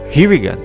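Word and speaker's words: Regan: Ronald Reagan, o sobrenome pronuncia-se Reagan. Donald Reagan, o sobrenome pronuncia-se Reagan. Dois sobrenomes idênticos quando escritos, muito diferentes ao serem pronunciados.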